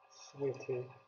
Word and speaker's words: souhaiter: Souhaiter. The Z there is silent.